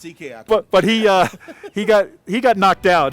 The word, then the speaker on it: Ike: Rotimi, one of the Nigerian players who competed this season, Ike Diagu, or Ike, I guess is the way they pronounce it in Nigeria. It's Ike.